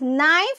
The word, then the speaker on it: knife: can see here yes here k is silent children so it is called as knife this is the knife